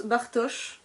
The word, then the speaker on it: Bartosz: post apo land 2 ça je sais que ça se prononce bartosz parce que j'ai entendu